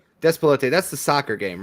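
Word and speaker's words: Despelote: Despalote. Despote.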